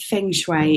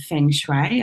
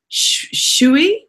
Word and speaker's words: Feng Shui: Feng Shui is and I use the pronunciation of Feng Shui I've heard others say feng shui which is perfectly acceptable Shoei is not it is a Shui like the way but anyway so the